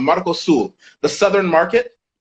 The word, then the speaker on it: Mercosul: Because they have I'm going to pronounce it wrong, Mercosul, the southern market. Mercosul.